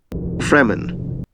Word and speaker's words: Fremen: completely different all right freeman all right do these sand people where you got youtube fremen without the rolled r that would actually be okay it's also one of